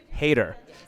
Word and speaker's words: Heder: here with Sean header is that you pronounce it Hater Hater all right isn't that the isn't Napoleon Dynamite the same last name yes he is are